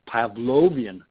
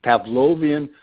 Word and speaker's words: Pavlovian: stimulus-response reinforcement the Skinner box the Pavlo T Pavlovian have to pronounce that correctly Pavlovian model of human behavior human learning where you